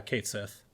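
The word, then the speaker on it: Cait Sith: catchy or catsith uh Kate Seth yeah apparently can't she is more in line with like the Gaelic pronunciation or Celtic I can't remember which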